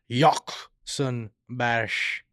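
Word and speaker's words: Håkon Bash: and our third guest hakon bash thank you for having me problem that's the real uh pronunciation right yep yakon bash you crush what is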